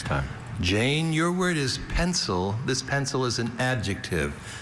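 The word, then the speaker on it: pensile: Jane, your word is pencil. This pencil is an adjective. This pencil means suspended from above, hanging, pendant, pencil. May I have all information? Pencil is the only pronunciation of this adjective.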